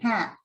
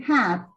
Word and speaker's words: hat: Hat, hot, you open your mouth a lot. And the other one, you close your mouth, almost like hut, hut, hut. You see, I don't know if you can see my lips. You say hut, hut, hut. But when I say hat, sombrero, hat, I open my mouth. And when it says like hot, so you see, very, very different.